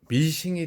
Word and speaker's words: 미싱: 이 재봉틀이 일본 사람들이 스윙머신의 스윙을 빼고 머신 기계를 뜻하는 거 아닙니까? 바느질을 하는 기계. 예, 이걸 뜻하는 건데 스윙을 빼버리고 머신 하다가 일본식 발음으로 미싱이 된 거죠.